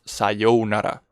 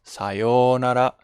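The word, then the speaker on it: さようなら: here we may we need to make it longer okay it's not sayonara sayonara or sayonara it's sayonara make it longer okay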